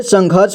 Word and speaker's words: संघर्ष: इसके बाद घ और यहां ऊपर में आप देख रहे हैं आधा र की मात्रा उसको पढ़ेंगे ठीक है तो यहां पर संघर्ष इसे संघर्ष पढ़ेंगे यानी कि इस वाले र का साउंड आधा आएगा यानी कि घ के बाद आएगा ठीक है स में